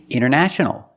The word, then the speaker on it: international: International. International or international. Example, the internet is international. It's not just in one country, it's all over the world.